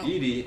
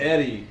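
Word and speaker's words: ED-E: Edie. Yeah. Eddie. Actually, it's. I think you can pronounce it either way, yeah.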